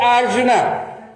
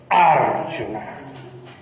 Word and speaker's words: Arjuna: Arjuna, não é Arjuna. Porque se fosse Arjuna, se fosse assim, se esse U fosse longo, essa sílaba seria guru, aí sim, Arjuna.